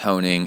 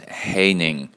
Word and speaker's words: Honing: Honing, and then this is funny, or it's actually coming from Jeff Honing, and it's not pronounced Honing, it's pronounced Haining, rhymes with raining.